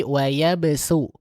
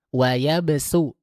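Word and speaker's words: ويبسط: Ingat di sana di wayabsultu bukan pakai sud bukan wayabsu tapi wayabsu. Wayabsu tipis ya. Nah, itu perbedaannya untuk huruf shad dengan huruf sin pengucapannya seperti tadi.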